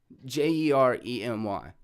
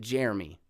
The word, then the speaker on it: Jeremy: Is it 2 syllables or is it 3? I guess that's debatable. In my mind, it's J, the word air, and then the word me. But some people break it up into 3 syllables.